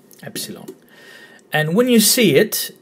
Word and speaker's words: epsilon: The easy way to remember the pronunciation, pepsilon, and you don't start with the P and you don't end with the G, epsilon, epsilon.